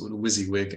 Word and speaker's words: WYSIWYG: The WYSIWYG, right? That acronym is pronounced WYSIWYG.